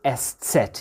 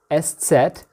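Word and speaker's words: Eszett: beta beta in grikya uh we call it estset yeah so we write it like that let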